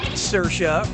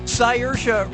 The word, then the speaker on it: Saoirse: Brooklyn yeah sure you do how do you pronounce uh her name Saoirse Ronan cyersha Ronan sayors Ronan or Cris Ronin foreign says